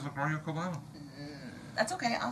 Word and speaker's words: Cubana: It ends in A, by the way. I know. It's Cubana, not Cubano. Cubano.